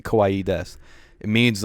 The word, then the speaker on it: desu: say wha and you don't need a set pronounce the U and death so you could just say kawaii kawaii desu to the person you if she wanted to